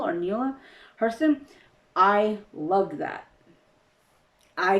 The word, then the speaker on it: Neale: It's Neil or Neela Hurston.